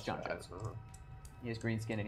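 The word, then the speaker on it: J'onn J'onzz: So Juan Quones, right? That's how you pronounce it. Right. Yeah. So, no, it's John Jones.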